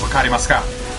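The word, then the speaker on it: 分かりますか: me if I understand it was wakari masca that's the actual Japanese way of saying it do you understand all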